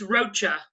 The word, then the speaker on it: Rocha: Is it Roca or Rocha? Roca. I hate to say it wrong. It's Rocha. Rocha.